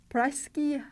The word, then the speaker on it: Pražský: In the word Pražský hrad means Prague Castle, we pronounce the voiceless sh instead of ž. So we have voiceless sh pair.